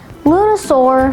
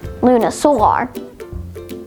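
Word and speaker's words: lunisolar: lunasore spelled l-u-n lunasaur lunasaur has one alternate pronunciation luna solar lunasaur is an adjective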